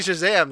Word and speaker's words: Shazam: Alan, it's pronounced Shazam every time. There's an It's exclamation point at the end. It's just Shazam.